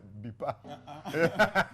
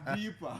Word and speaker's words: Deepa: My mother used to pronounce Fox's name as Books. So you wanted to say Deepa. Deepa.